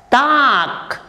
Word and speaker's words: talk: Talk, T-A-L-K. L is there, but it's silent.